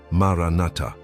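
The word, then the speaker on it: Maranatha: It's pronounced maranata with the four syllables flowing like a small melody.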